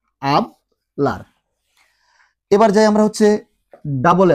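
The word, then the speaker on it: hablar: আছে অর্থাৎ এইচ আছে, ওই এইচটা কিন্তু কখনো উচ্চারণ হয় না। আমরা এটা আগের ক্লাসে বলেছিলাম, তারপরে একটা উদাহরণ দিয়ে শুধু আমরা বলে দিচ্ছি এই ক্লাসের মধ্যে। যেমন দেখেন আবলার, আবলার, আবলার মানে কথা বলা।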